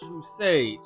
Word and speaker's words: True Sage: It is True Sage, and yes, it is pronounced True Sage.